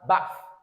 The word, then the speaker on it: bath: R and we have the single A. In this case we have Bath Bath Bath. So if you say Bath and it is long a you know how the transcription would come.